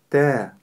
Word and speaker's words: ت: Т. Т. Буква Т- мягкая буква, и не стоит её произносить твёрдо, говоря та или же т. Нет, нужно её произносить мягко.